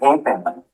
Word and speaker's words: halfpenny: F as in halfpenny. Halfpenny is how you pronounce halfpenny.